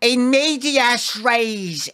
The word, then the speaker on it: in medias res: Here we can see, it says, in medias res here.